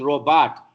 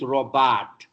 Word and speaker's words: robot: It's not an English word. It's not. We think it's a French word. That's why we say robot. It's a Czechoslovakian word. Czech language. In Czech, there's nothing called silent letter. It's robot.